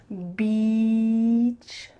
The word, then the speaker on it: beach: rude word instead so let's practice that vowel sound it needs to be a long e beach beach beach and really